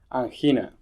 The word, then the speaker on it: angina: Rolla on our section a Spanish por favor this week Spanish word is an Hina which is spelled the same as angina although uh Hina in